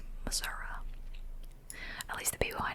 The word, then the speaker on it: Missouri: And then I'm like, let me just spend 20 minutes in Missouri. Or as people from Missouri say, Missouri.